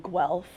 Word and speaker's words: Guelph: We both went to university in Guelph. I'm glad that's how you pronounce it.